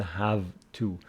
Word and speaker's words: have to: of this part I have to study it is not have to I have to study it is kind of F this V is somehow pronounced F I have to study